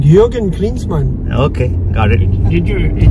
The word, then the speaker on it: Jürgen: Jürgen. Jürgen, like Jürgen Klinsmann. Okay, got it. Did you get it? Yeah. But you spell it J, right? Yes. Yeah. It's pronounced the soft J.